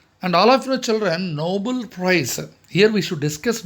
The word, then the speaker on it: Nobel: And all of your children, Nobel Prize. Here we should discuss Nobel Prize also. Many of us, we just commit a mistake. Noble, Nobel. See the difference? Noble. Same, almost same pronunciation.